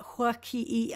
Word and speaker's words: Huaki'i: Yeah, there's like a little glottal stop or like an apostrophe. Huaki. Huaki. Yeah. The Huaki'i app.